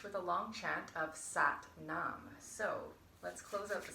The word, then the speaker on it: Sat Nam: simply means really and it is pronounced to rhyme with but mom so now you know what satnam is all about thank